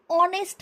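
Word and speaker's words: honest: Question number 10 देखिए, शी is dash ऑनेस्ट मैन। ऑनेस्ट ओ वाला pronunciation आ रहा है, तो एन लगाओगे, इंडेफिनिट आर्टिकल।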